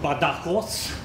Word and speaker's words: Badajoz: May I introduce to you Andrés Santos from University of Extremadura in Spain, in Badajoz. This is the correct pronunciation.